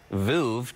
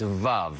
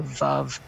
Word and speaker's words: Veuve: So as an American, I rhyme it with love. So Veuve Clicquot.